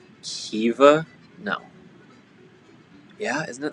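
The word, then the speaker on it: Caoimhe: do you pronounce that i think it's like kiva because i feel like the m is always like a v sometimes like a v there we go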